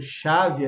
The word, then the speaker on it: chave: Concorda que CH dá o som de X? Para quem tem mais dificuldade, o H não tem som nenhum na língua portuguesa.